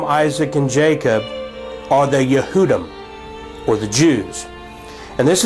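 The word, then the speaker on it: יהודי: transliterated in Hebrew for Jew in English is pronounced yehudi and the word Jews is yehudim and so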